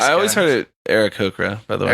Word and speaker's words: Aarakocra: yeah, Aarakocra don't know when they're going to die.